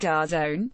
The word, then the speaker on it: DAZN: The National Post, a Canadian outlet, reported widespread difficulties with the NFL's new streaming service in Canada called DAZN, pronounced DAZN.